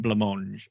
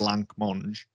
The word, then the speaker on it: blancmange: sound wrong yeah and i'm now saying blamange and it sounds wrong sounds like a wrong word particularly because i can see it like the actual word in my head and it's not spelled like you think it is either because there's a c in there because that's blank monge yeah okay wrong yeah